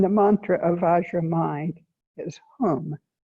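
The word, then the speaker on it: hūṃ: a h and the mantra of mind is whom spelled h u n therefore if we recite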